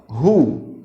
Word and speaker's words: who: gente vai utilizar Who Olha a pronúncia ó hu tá quando nós queremos saber